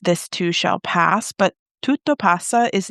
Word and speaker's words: tutto passa: You shared an Italian phrase tutto passa. Did I say it right? Yes, tutto passa.